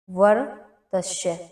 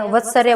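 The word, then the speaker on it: वर्त्स्य: वर तस्य उस इसको क्या बोलते हैं? वत्सर्य बोलते हैं। यानी कि वो उच्चारण आपका गलत होता है। इसको क्या बोलेंगे हम? वर्तस्य बोलेंगे।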